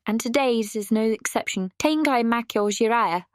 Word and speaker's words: Tengai Makyou Ziria: Tangai Mako Jira yes that's how you say it not Zera is the world's first CDROM RPG released by Hudsonoft and developed by Red Company.